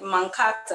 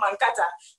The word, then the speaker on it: Mankata: mankata okay um i realized you you said mankato it's not the pronunciation that means i've been pronouncing it wrong about this wow i'll be saying mankata you know there is no h there's no